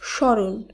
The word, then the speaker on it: স্মরণ: প্রথম যে নিয়মটি রয়েছে শব্দের শুরুতে ব্যঞ্জন বর্ণের সঙ্গে ম ফলা যুক্ত থাকলে সেই ম ফলার উচ্চারণ হয় না আবারো বলি কোন শব্দের